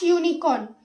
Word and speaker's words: unicorn: Here the starting letter U is a vowel but you don't put an because the sound of unicorn is starting with YUN. Unicorn. You don't call it like the sound of this is not like umbrella. So the sound of unicorn is YUN and Y is a consonant.